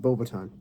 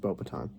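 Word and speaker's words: Beauxbatons: um Durham string and boba time yes it's pronounced bow baton um and then there's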